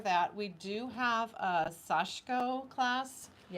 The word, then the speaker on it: sashiko: sashiko which we looked up that's how you pronounce it sashko sashko so this is sashiko So, this is an example of one.